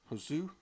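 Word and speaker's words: Josué: s u e how would you say that hosu yeah hosu hosu with the with the uh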